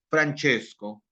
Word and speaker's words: Francesco: Francesco de Pretarca, ¿no? En italiano. Francesco se escribe, pero se pronuncia Francesco.